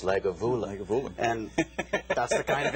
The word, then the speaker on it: Lagavulin: It's not Lagavulin, it's Lagavulin.